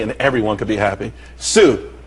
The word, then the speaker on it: TSU: Sue, TSU, it's pronounced Sue though.